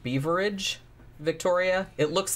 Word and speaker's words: Beveridge: I think it's pronounced Beaveridge, Victoria. It looks like Beveridge. And I have heard it pronounced Beaveridge. That, but I think it's Beaveridge.